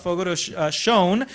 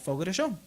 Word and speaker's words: Fogo de Chão: She's going to tell us a little bit more about Fogo de Chão, which I just learned how to pronounce.